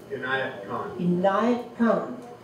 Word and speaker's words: Inayat Khan: And then, Ina, how you pronounce it for me? Inayat Khan.